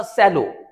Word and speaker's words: सेलो: समय बहुत चलता था इसका नाम था सेलो तो वो सेलो ही पढ़ा जाएगा स्पेलिंग यही है एक वाटर बोटल आती है बहुत ज्यादा ब्रांड नेम है तो उसको भी सेलो ही पढ़ेंगे लेकिन यह जब वर्ड